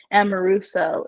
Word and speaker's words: Amoruso: And we were trying to make sure how we said her last name correctly, but Sophia Amoruso is how I believe it's pronounced.